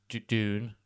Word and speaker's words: Dune: Dune? How would you say it? I would say June. Yeah, but it sounds like June.